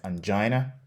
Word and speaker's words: angina: Следующее слово angina. Можно также произносить как angina.